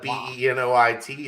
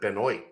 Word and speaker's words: Benoit: ed r.i.p chris like there's people that spell it b-e-n-o-i-t that pronounce it benoit and i'm like no that's benoit justin herbert's name is